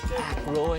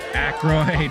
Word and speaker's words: Aykroyd: How the fuck do you pronounce this? Ackroyd? Is it Oh, is that supposed to be Paul Schaefer? Yeah, you're right. They should be a little bit smaller. Aykroyd.